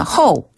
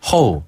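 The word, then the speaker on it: 后: 그래서 발음이 비슷해요. 앞전자는 치엔 치엔 치엔 치엔 뒤자는 호 호 호 호 다시 한번 치엔 치엔 치엔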